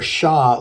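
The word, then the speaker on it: Ш: And the Russian letter Sha looks similar to our English letter W, yet it is pronounced as sh, like shout.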